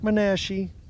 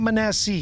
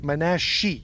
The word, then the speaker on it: Manashi: We got the uh shadow boxer Mark Manashi. It's not Manassie. He told me it's like Joe Peshy. It's Manashi. That's how you pronounce it.